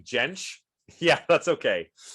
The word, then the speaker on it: Jentsch: It has a J, but it's pronounced like a Y. Oh, have you been saying Jentsch?